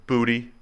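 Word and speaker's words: Boutte: LSU first round potential that's really how you pronounce that booty yep looked it up okay what would you go with I would have said boot based off it's booty spelled booty booty okay booty all right someone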